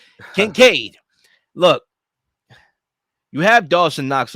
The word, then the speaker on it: Kincaid: Kincaid, right? I'm gonna need financial aid, right? Kincaid.